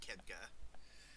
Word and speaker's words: Khadgar: Speak to Archmage Khadgar, as by the way, that's how it's pronounced, Khadgar.